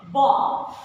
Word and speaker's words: bomb: So when it is silent, when B consonant is preceded by M.